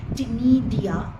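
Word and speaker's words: ctenidia: ये दोनों काम ही टिडिया या गिल्स फेदर लाइक गिल्स सी साइलेंट है यहां प टिडिया में इसके अलावा इसके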